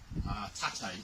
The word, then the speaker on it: tate: This is Tate no Kamai, or sometimes you can call it Shizunakamai, but correct pronunciation or correct terminology is tate, upright position.